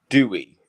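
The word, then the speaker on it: Dewi: how that's spelled so there's a Welsh name called Dewey d-e-w-i um but to say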